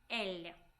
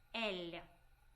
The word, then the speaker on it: él: He will be él. Él. Él. Make it soft L. Él.